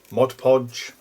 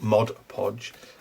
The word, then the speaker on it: Mod Podge: it like i've used mod podge and i say that mod podge because i've got told off once for saying mod podge because it's not the right pronunciation um i've tried that